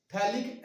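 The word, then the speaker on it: phthalic: आता है, ये कंपाउंड थैलिक एनहाइड्राइड। क्या कहा जाता है इसको? थैलिक एनहाइड्राइड कहा जाता है। इसमें पीएच साइलेंट होता है, ये ध्यान रखना।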